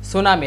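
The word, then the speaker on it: tsunami: সুনামি একটা শুরুতে টি আছে কিন্তু, যেটা সাইলেন্ট থাকে, যেটা উচ্চারণ করার সময় যেটা উচ্চারিত হয় না, তবে এখানে বানান লেখার সময় এটা আসবে কিন্তু।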